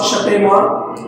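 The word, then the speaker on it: Spemann: On embryonic induction, experiments were carried out by Hans Shapeyman and Haldi Mangold in 1924. Hans Shapeyman and Haldi Mangold। ये pronunciation तो है हांस शपेमान, ये शीन की आवाज देगा।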